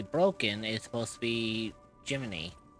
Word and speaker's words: Jiminy: And the person who's supposed to be broken is supposed to be Jiminy. Even though it's spelled as Gemini, but it's supposed to be a reference to like Jimny Cricket.